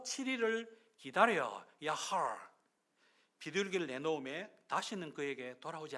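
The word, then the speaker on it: יחל: 하나는 이 발음을 잘해야 되는데 우리말로 야할 이러면 안 되고 약간 이렇게 끓는 마무리하고 히브리어기 때문에 야할 이렇게 발음해야 돼요.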